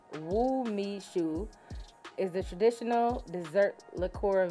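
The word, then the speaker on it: umeshu: need a cork so let's see okay um pronounced woo me shoe is the traditional dessert liqueur made from the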